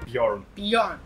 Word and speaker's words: Bjorn: Correct pronunciation is Bjorn.